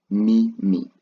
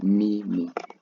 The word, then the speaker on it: mimi: So I I will be translated to mimi me me. That's how you pronounce I in swahili me me.